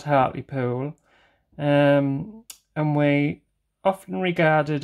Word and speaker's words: Hartlepool: regarded as Hartley pudlians and don't pronounce the letter H and hurt me pool well people are awake Within Me friends and that don't pronounce the the H but I always do um yes and if